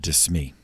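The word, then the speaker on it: De Smet: priest, named Pierre Jean de Smee. That's Pierre as in Peter, John obviously, but it's spelled G-E-A-N, and then D-E-S-M-E-T, Pierre Jean de Smee.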